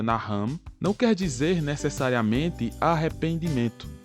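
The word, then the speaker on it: נחם: A palavra usada nessas referências no Antigo Testamento, que no hebraico se pronuncia Naham, não quer dizer necessariamente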